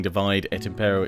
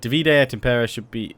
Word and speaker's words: Divide et Impera: I've already known this I just always in my brain divert to saying divide at impero it's divide and Rule technically um but divid at imper be I think is how it should be pronounced so we'll stick with